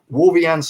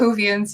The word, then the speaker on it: Whovians: I mean, Doctor Who fans out there, Whovians or whatever you pronounce that. Whovians, yeah.